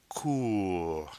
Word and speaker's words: court: Then we have court. Now notice that T is silent at the end of the word because there's no E forcing its pronunciation.